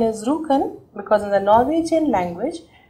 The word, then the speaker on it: Rjukan: The other case study I want to take up over here is about a Norwegian city called Rjukan. The pronunciation is Rjukan. Norwegian language pronounces J-U as double O.